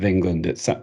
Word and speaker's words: Engelond: First of all, let's get clear on the title, because it looks like the Foul Deth of Engelond.